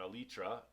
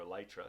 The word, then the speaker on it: elytra: I mean, I'm not going to need it for an elytra or elytra, depending on how you say it.